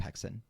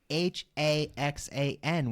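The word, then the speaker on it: Häxan: And I even looked up how to pronounce it correctly, too, because it's not spelled that way. It's Haxan with an umlaut over the A because it's a Danish movie.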